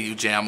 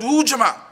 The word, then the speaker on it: Ujamaa: It's pronounced Ujamaa, but they say Ujamaa over there.